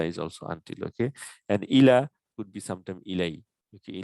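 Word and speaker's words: إلى: Okay, sometimes this is pronounced as ilay when it is connected with a pronoun, just like ala, alay, and ilay. And we say inna lillahi wa inna ilayhi rajuin, right?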